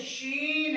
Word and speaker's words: شین: میں اس کا تلفظ شین ہے یعنی کہ شین کا تلفظ عربی زبان میں ہم شین کرتے ہیں.